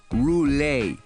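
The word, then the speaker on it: Roulet: Almost like the spinning wheel, but you pronounce it rule, he said.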